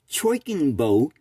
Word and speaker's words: Choiknbo: So this particular one is the Choikinbo T46S, and Choikinbo is spelled Choiknbo, and the model number is T46S.